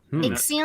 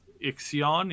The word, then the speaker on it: Ixion: We've got a new game that just dropped yesterday, and I keep pronouncing this wrong. It's like basically a Frostpunk in space. Ixion? Called Ixion, yeah.